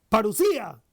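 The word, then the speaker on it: παρουσία: habita entre los hombres la presencia en griego se pronuncia parusía y expresa uno de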